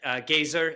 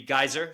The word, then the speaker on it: geyser: he he mentioned it people pronounce this word differently every time I speak with someone he mentioned it's at gazer uh in the way I would say it as a New Yorker would be geyser so it's short for